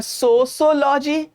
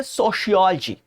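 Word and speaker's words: sociology: ये ये लोग इसको पढ़ते हैं सोसोलॉजी। कुछ लोग तो पढ़ते हैं सुसुलॉजी। लेकिन एक्चुअली नहीं ये होती है सोशियोलॉजी सोशियोलॉजी सोशियोलॉजी नहीं और सोशियोलॉजी तो बिल्कुल नहीं यार सोशियोलॉजी सोशियोलॉजी ठीक है तो बायोलॉजी जलॉजी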